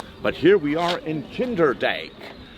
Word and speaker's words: Kinderdijk: Well, there is a J, but in the Dutch alphabet, an I and a J next to each other is pronounced A.